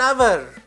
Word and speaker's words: hour: person it takes an hour from here to go to market now I I have used an although the word begins with H because here H is silent similarly at times even